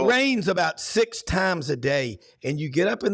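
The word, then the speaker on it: Derry: in the north notic I didn't say London Dair I said da that's right way the the Republic pronounces it um uh you know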